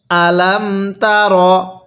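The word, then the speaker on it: ألم تر: তার কিভাবে পড়বো আলামতার অনেকেই আমরা এখানে হামজা এর মধ্যে টান দিয়ে থাকি যদি হামজা এর মধ্যে টান দেই তাহলে কিন্তু পড়াটা সহি শুদ্ধ হবে না তাহলে কিভাবে পড়তে হবে আলামতা এরপরে কাফিয়া জবর কাই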